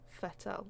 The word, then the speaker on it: Vettel: totally how it's pronounced fettle it's like more of an F than a v isn't it but it's not that